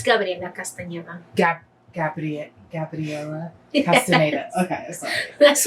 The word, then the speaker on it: Gabriela Castaneda: It's Gabriela Castaneda.